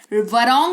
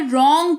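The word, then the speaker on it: wrong: वो शब्द शुरू ही डब्ल्यू से हो रहा है और उसके ठीक बाद आर आ रहा है तो डब्ल्यू का उच्चारण नहीं किया जाएगा।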